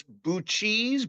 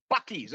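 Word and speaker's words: Buc-ee's: going, "Oh my god, I don't know how you pronounce this Bu cheese, Bu ches, Buckee's." And everybody in the background is Buckee's.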